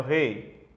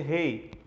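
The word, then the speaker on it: ר: Algumas pessoas pronunciam re, outras pessoas pronunciam rei. Como a gente vai seguir o que está naquele livro que eu apresentei na primeira aula, a pronúncia para nós vai ser rei.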